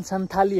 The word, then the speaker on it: संथाली: बोलते कुछ भी बोलते, बट एक्चुअल में शायद प्रोनाउंसिएशन संथाली है। मैं देखा था, मैं संथाली बोलता था लेकिन संथाली है एक्चुअल में प्रोनाउंसिएशन।